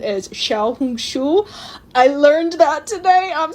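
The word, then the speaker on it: 小红书: The Chinese pronunciation is Xiaohongshu.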